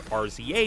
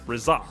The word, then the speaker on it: RZA: to throttle me for pronouncing the name as RZA in the review instead of Reza.